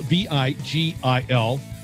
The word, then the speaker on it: Vigil: His last name is spelled V-I-G-I-L, but it's pronounced Vigil.